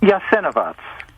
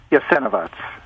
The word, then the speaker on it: Jasenovac: What is the proper pronunciation? Jasenovac. Jasenovac.